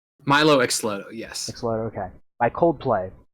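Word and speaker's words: Mylo Xyloto: Xylodo? Milo Xlodo, yes.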